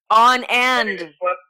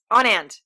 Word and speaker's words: Anand: And it's Anand, right? Anand. On and. I just slapped those words together. On and. Is that good?